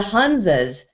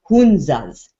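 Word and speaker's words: Hunza: so glad you asked that Christopher because the hanzas have been studied and they're in Northern India and the hanzas have actually it's pronounced hunas hunas the hunas it is not uncommon for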